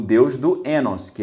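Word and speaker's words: οἶνος: Em grego se escreve oinos, mas o ômicron iota em grego é um ditongo, que é um ditongo que tem um som de E. Então, oinos em grego, o som é enos, tanto que o estudioso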